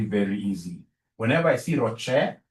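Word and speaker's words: ROCE: easy whenever I see Rocher please don't pronounce this as Ros is my sister Ross is your mother professionally we pronounce this as Rocher whenever I see this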